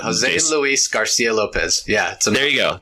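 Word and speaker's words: José Luis García López: yeah because it is those Hosea Lopez I can never say his name right is a Jose Lopez Garten is hello me out Jose Luis Garcia Lopez yeah so there you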